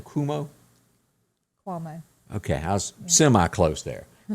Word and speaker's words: Cuomo: Cuomo.